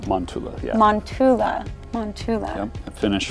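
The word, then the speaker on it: Mäntylä: so we're at monela I say it right manula yeah manula manula yep finish for of the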